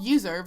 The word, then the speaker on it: Uzurv: It's called Userve. It's spelled Uzurv.